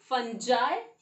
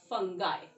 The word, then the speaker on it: fungi: No, it will be fungi, or you can also pronounce it as fungi.